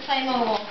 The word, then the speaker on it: Playmobil: like themu got so playmobile playob no playmobile say play mobile mobileile it playmobile i know swee but that's it's a german product and that's how they pronounce it oh teddy helping you